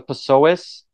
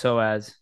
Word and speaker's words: psoas: multifaceted which it is there's a pasoas I think that's how you say it psoas component there's a hip component there's an abductor component I think it's soaz soaz soaz okay I think so